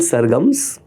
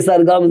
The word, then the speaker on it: SRGMS: नाम दी आपने सरगम, तो सरगम्स और हमने स्पेलिंग किया है SRGMS. एंड एवरीवन सेज यार तो उसमें मतलब मिट्टी में मिला दिया बिकॉज एवरीवन सेज SRGMS कब आ रहा है? अरे सरगम्स नाम है.